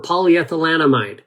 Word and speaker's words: polyethylenamide: about, maybe because it's difficult for people to pronounce, but we call it PEA because that's the acronym for polyethylenamide.